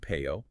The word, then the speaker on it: Peyo: It was the phonetic way one of his English cousins would try to pronounce Pierre. Pierrot, which is a French diminutive of his actual name, Pierre.